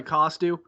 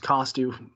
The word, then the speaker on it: Kostiw: still love it man i always go by costu my pair my parents my sisters always correct me they're like you know it's costume right it's just it's just been it's like second nature now that your name is pronounced cost you don't listen it's it's